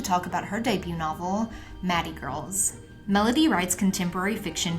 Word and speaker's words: Mathey: Am I pronouncing it right, Mathey? It's actually Mathey Girls.